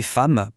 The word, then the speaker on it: femme: Et femme, pourquoi le e se prononce a ?